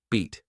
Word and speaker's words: beat: Beat. Longer, clearer. Like the E in C.